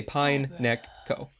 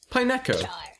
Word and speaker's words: Pineco: one of those in I like the way you say Pineo you're like Pine you split it I say pineco which is like two words you say Pine Neck Co pineco exactly that's how you say it I'm like wo